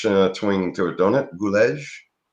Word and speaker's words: Gulledge: Like 2 words: seagull, gull on the edge of the ocean. Yeah, Gulledge. Yeah, but it's got a little French twing to it, don't it? Gulledge?